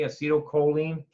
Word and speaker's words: acetylcholine: cup of coffee it's a steal choline okay acetylcholine I will spell it out for you it's got an L